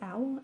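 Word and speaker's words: Auel: the valley of horses by Jean owl I think it's owl a u e l I cannot pronounce things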